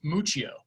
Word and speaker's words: Muccio: without further ado mucio am i pronouncing your name your last name right uh pretty close yeah it's mucho muccio okay all right well